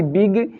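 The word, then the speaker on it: big: ये होता है कि अगर किसी वर्ड के लास्ट में जी आता है और जी के बाद कोई दूसरा लेटर नहीं आता है, तो वहाँ पर हम जी का प्रोनाउंसिएशन जो है ज के रूप में नहीं करते हैं, ग के रूप में करते हैं।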